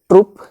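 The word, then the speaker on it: troupe: সম্পর্কিত collective noun যেগুলো ট্রুপ company বা কাস্ট এই ট্রুপ বানান হচ্ছে টি আর ও ইউ পিই আগেরটা ছিল টি আর ডবল ওপি এটা হচ্ছেটির ও ইউপি দুটোর উচ্চারণ এক কিন্তু বানান আলাদা রয়েছে এবং পরীক্ষায় যদি আসে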